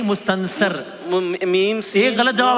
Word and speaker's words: मुस्तनसर: ना ना ना ना ना, नून तो आपने मिस कर दिया भाई मुस्तसर नहीं मुस्तनसर।